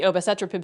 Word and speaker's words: obicetrapib: It's a new generation CETP inhibitor known as obicetrapib. I think that's how you pronounce it. Obicetrapib. That's it. It has relevance for Alzheimer's